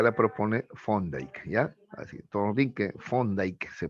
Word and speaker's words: Thorndike: Así, Thorndike se pronuncia, ¿ya?